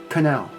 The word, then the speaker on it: canal: Pronounced canal. Canal. Now I know that CA can get really tricky. You could probably pronounce it canal, but in American English we pronounce this canal with the C-K sound.